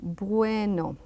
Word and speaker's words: bueno: A very soft B, bueno.